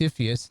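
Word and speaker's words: CFIUS: commonly pronounced epheus this is what they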